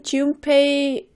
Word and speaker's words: Junpei: Me too, because why are you writing Junpei with an M all of a sudden? I know when you pronounce it, it sounds a little bit like an M, Junpei, but it's actually an N, Junpei.